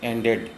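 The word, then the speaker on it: ANDed: मतलब ए एंड बी, लेकिन लिखते हैं एंडेड, समझे ना। तो ए एंडेड टू बी, ये ध्यान रखिएगा, प्रोनाउंसिएशन एंडेड।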